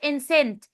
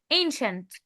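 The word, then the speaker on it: ancient: يا سلمى سلمى سلمى ما اسمهاش انسنت قلتلك السي اي هنا هتتنطق شا انشنت ايجيبت ها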